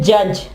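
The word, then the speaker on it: judge: D silent होगा, खामोश होगा, सॉरी, डी जो है वो साइलेंट होगा, डी जो वो आवाज नहीं देगा। ठीक है, इसकी एग्जांपल है जज।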